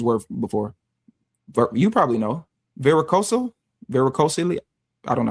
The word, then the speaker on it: varicocele: Varicocele. I don't know how to say that word. Varicosity. No, not varicosity. It's a VARICOCEL.